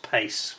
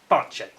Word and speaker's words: Pace: For the Brits, it looks like Carlos Pace, the way the British pronunciation, but it's Pache.